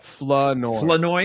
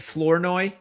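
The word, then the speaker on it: Flournoy: By the way, you said to pronounce uh Ryan uh Flenoi. Flenoi. Fen Flenoi. Yeah, Flenoi. Okay. Why? how they were doing it. Florinoi.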